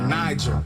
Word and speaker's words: Niger: Come on, let me take you to a river, Niger. Soft G like Jay in pajama.